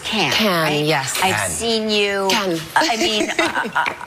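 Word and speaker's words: Cannes: seen you at can it's pronounced can I've seen you I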